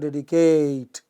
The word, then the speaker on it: dedicate: And if you do that, you will notice that in words like dedicate, it is not dedicate, it is not dedicate, it is dedicate, initial syllable.